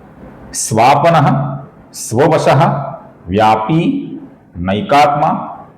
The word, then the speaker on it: व्यापी: इसके आगे व्यापी नाम है दोस्तों, ये पी दीर्घ है। कुछ लोग इसका व्यापी ऐसा ह्रस्व छोटा उच्चारण करते हैं जो कि गलत है। इसका सही उच्चारण है दोस्तों व्यापी, व्यापी।